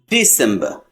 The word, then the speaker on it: December: No R at the end. December.